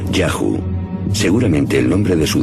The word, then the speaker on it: Yahu: Los textos egipcios dicen que uno de los lugares donde los Shasu vivían se llamaba YHW, probablemente pronunciado Yahu, seguramente el nombre de su dios protector.